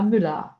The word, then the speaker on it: Müller: E o er, no alemão, ele tem som de a. Então, a gente tem aqui, Müller. Mas é escrito er, Müller. Mas você fala Müller, ok?